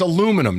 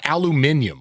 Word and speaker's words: aluminum: It's aluminum, not aluminium.